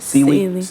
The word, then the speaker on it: Celie: When she, Cicely, is that how you say it? Celie. When she left her house, the mister was riding on a horse.